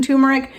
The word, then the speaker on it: turmeric: about turmeric and yes there are two r's in turmeric it's just that I pronounce the U with the long u sound so it makes it